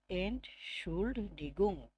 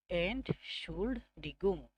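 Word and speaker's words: Entschuldigung: আবারও এটা আমি ছোট্ট করে উচ্চারণ করতেছি, এন্ড শুল্ড ডিগুং, এন্ড শুল্ড ডিগুং, মানে হচ্ছে এক্সকিউজ মি।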